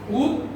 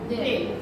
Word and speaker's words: উদ্বেল: কি লিখলাম এটা উদ্বেল উদ্দেল উদ্দেল উদ্দেল তাই না উদ্দেল উদ্দেল কারণ আমরা বলেছিলাম যে ব ফলাটা যদি মাঝখানে আসে তাহলে কি হবে দুইবার হবে তাইলে উদ্দেল হয় তাই